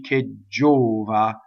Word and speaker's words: gelida: We already know that the word K is a strong monosyllable, so you have a double G, ggɛlida.